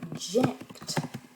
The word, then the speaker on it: object: 1, 0, pardon, to object. Et là, object. Donc ce qui est intéressant, c'est que par exemple, là dans to object, on va réduire la voyelle de la première syllabe dans le verbe. Object.